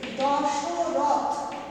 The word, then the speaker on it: দশরথ: যেমন ধরো দশরথ একটা শব্দ, সেটাকে আধুনিক বাংলায় কেমন ভাবে উচ্চারণ করা হয়, থ, অর্থাৎ কি না থয়ে বসন্তযুক্ত অ ছিল এখানে, এই অটা কিন্তু এখন উচ্চারণে লুপ্ত হয়ে গেছে। কিভাবে আমরা উচ্চারণ করি না, সেটাকে আমরা উচ্চারণ করি দশরথ হসন্ত, এইভাবে, অর্থাৎ এখানে যে একটা অ ছিল ব্যঞ্জন বর্ণটার সাথে, সেটা কিন্তু লুপ্ত হয়ে গেছে। 2 নম্বর দেখো মধ্যম পুরুষে